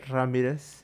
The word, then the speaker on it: Ramirez: You gotta roll your R's if not. Coach Ramirez. If not, they ain't the same.